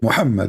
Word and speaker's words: Muhammad: Muhammad, yes, Muhammad.